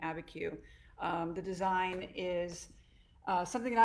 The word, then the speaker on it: Abiquiu: So today we are going to be creating my finished Abiquiu. That's how you say it.